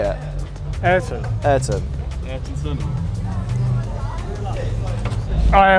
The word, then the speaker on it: Ayrton: It says Art and Senna on it. Art and Senna. Art and Senna. Oh no, cut that out. How do you say it? Ayrton.